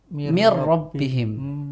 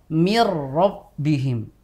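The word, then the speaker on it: من ربهم: banget ya nunnya yaitu ketika ada nun sukun bertemu ro misalkan ada Min ada rbihim maka kita membacanya dengan mirbihim Nah dari sini kita akan tahu bahwa huruf nun itu benar-benar seperti hilang dan masuk ke huruf ro Iya baik dari sesi makhraj maupun sifatnya ya kan itu seolah-olah menjadi huruf ro yang dobel kan nunnya kan seperti hilang I Iya kita bacanya mirabbihim kayak ada tasdidnya gitu ya Ustaz Iya memang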